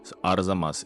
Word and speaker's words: Arzamas: of Arzamas, which I had so much trouble pronouncing, but now I got it. Arzamas, it's easy now.